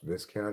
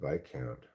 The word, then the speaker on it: viscount: I don't even think it's pronounced viscount even though it's spelled that way. Really? I think it's pronounced bike count.